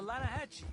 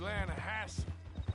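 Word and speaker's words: Lannahechee: no no no the the lana hatchy it runs right near here yeah but it's pronounced land hassle why is everything in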